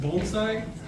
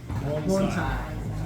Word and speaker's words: bonsai: So, you know, it's that's how it's said, but it's bone as in bones in your body and eye. Bonesai.